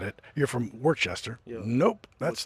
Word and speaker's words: Worcester: If you look it up in the dictionary, it says there's 3 separate pronunciations. There's Worcester, and they're kind of a Worcester with a U, and then what I would say would be the total locals, like Wicked, Worcester, right?